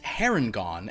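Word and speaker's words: Harengon: do you say it I believe it is pronounced herringon and you can also simply refer to it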